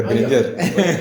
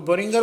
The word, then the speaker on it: Boehringer: تو N other company جس کا نام تھا بورنگر مینہائم، Acha, Boehringer is very innovative and exciting name. Mostly people don't pronounce it correctly. ہاں جیسے میں بھی کہتا تھا برنجر.